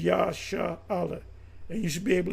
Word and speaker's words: Israel: is uh and the the correct way to say Israel or pronounce the word Israel name Israel is yha Allah and you should be